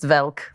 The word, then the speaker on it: Welk: guy my grandparents watched Lawrence Welk yeah of course which they pronounced velk right lawence okay yeah but